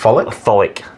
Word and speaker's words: Tholic: The pronunciation, I think, is Tholic. Folic? Tholic.